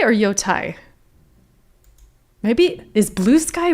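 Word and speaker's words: Yōtei: Yote.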